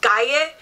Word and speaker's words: calle: So Cala kind of looks like calle. The 2 L's sound like a J.